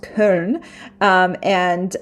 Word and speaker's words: Köln: train from Frankfurt to Köln. It's in English they have changed the name to Cologne, but in Germany it's pronounced Köln, so we will have to.